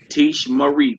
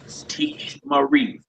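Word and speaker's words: תִּשְׁמְרִי: How would you pronounce that? Tish Marie. Tish Marie. Good job. Good job. You will guard, speaking to one female. Tish Marie.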